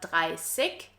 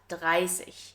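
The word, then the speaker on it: dreißig: Side note here, you also might have noticed that we pronounce the IG at the end as an Ich sound. So in high standard German, it's not 30, but 30.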